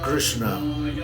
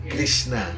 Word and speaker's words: Krishna: No se debe decir Krishna, se debe pronunciar bien. Krishna. Krishna no se dice Krishna, Krishna. Krishna no, Krishna. Ese es la verdad, el sonido, la pronunciación correcta. Krishna, Krishna, ¿no?